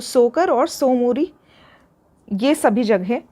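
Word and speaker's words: Tso Kar: हैं लद्दाख में सोकर ये यहां पे टी साइलेंट है तो सोकर और सोमूर यह सभी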